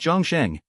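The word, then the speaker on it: 众生: to convey in Translation in Chinese the sound of a bell or the toll of a bell is pronounced Jong xang whereas all living beings is pronounced Jang xang if you find any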